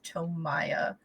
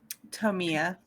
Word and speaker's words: Tomia: You are familiar with most of the people in the envoy of Tomia, or do you intend for it to be pronounced Tomia or Tomaya? Tomia. Tomia. Okay.